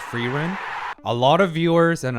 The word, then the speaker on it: Frieren: I want to highlight another really important subtle point here for Fian. And I know, yes, I know her name is pronounced Ferren.